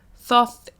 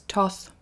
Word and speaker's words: Thoth: Thoth, some people pronounce as Thoth. I say Thoth.